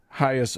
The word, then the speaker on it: Hagia: I think it's Hagia. Hagia. Yes, correct. Yeah.